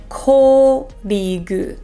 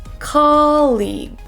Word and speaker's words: colleague: colleague in this word a common mistake is saying col instead of colleague so making that o sound too strong we don't want to say colleague we want to make it tall and say colleague colleague I went to lunch